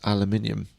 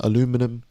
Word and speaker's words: aluminium: If we're teaching English, can you tell the Americans how to pronounce aluminium? Aluminium, aluminum.